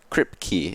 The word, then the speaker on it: KRYPK: Kripke is the pronunciation, I have just been told.